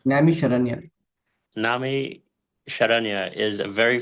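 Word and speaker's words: Naimisharanya: How do you say that? Sorry. Namisharanya.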